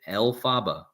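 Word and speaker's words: Elphaba: witch okay right here Maguire formulated the name out Alaba from the pronunciation of bal's initials lfb elaba you get it Alaba now l is Satan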